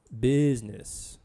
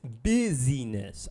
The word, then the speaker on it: busyness: Business. Okay, and by the way, folks, it's not business, it's busyness. I don't know why people don't know how to pronounce it correctly.